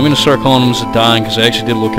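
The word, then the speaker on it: Zidane: or whatever but zadan like the French uh football player whatever sounds the best I was calling him zadane but whatever Auto flute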